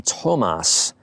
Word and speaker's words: Thömus: presenting to you today the Thomas with an emphasis on the o forgive me if I've